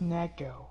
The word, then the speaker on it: neko: You love Nico girls? It's pronounced Neko.